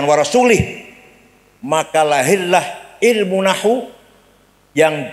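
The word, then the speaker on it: ورسوله: dan tidak melindungi rasulnya salah yang benar bacanya in melindungi orang musyrik dan Rasulullah pun tidak melindungi orang musyrik warasulah bacanya J warasulih maka lahirlah ilmu Nahwu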